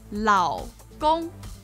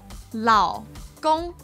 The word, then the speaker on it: 老公: Now what we want to say would be 劳工. 劳工. And this is with a third tone and then a first tone.